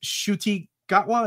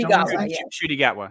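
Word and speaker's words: Ncuti Gatwa: but uh it's a is it shuti gwa is that how you pronounce it shy gatwa yeah you know if I've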